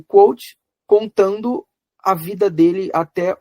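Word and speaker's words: Kvothe: Eu falo Quoth porque a pronúncia dos nomes desse universo ela é livre.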